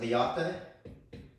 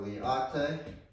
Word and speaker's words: LIATE: I pronounce it liate. So liate.